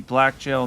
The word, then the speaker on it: Blackgaol: going to be the Blackgaol Knight. I believe it's pronounced much like the Everjails.